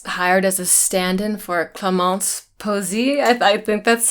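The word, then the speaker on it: Clémence Poésy: I was hired as a stand-in for Clémence Posey. I think that's how you pronounce her name.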